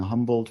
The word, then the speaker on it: Humboldt: He is the recipient of a Fulbright Fellowship and a Humboldt Fellowship, Humboldt Fellowship, right, if you pronounce it in German.